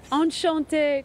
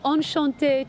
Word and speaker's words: Enchanté: It's not Enchanté, yes. Is it? It's Enchanté, Kochie. Oh. You said it like rhyming with Tajay. Tajay, yeah. Tajay with Enchanté.